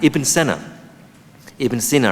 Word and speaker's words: Ibn Sina: And Ibn Sina, I think, as it's properly pronounced, was born in Uzbekistan, spoke in Persian,